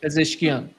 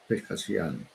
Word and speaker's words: Pezeshkian: President Pezeshkian, is that how he pronounces it? Pezeshkian. Pezeshkian.